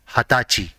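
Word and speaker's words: 二十歳: For 20 years old, there is a special word and it is hatachi.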